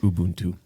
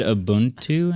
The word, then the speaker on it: Ubuntu: I guess if you want to play games, it's pronounced Ubuntu. Well, we knew that. I didn't. Isn't that what I said? I think I said abuntu in the video.